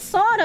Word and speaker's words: solder: It's spelled solder, but the L is silent.